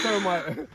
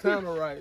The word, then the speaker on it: tannerite: Hey, all right, I need to go get me some termite. Nah, it's tannerite, bro.